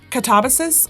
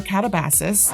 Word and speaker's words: Katabasis: It's called either Catabasis or Catabasis. I've heard both too, but I also